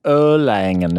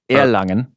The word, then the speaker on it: Erlangen: And the Americans like Erlangen is how you will spell it, but Erlangen.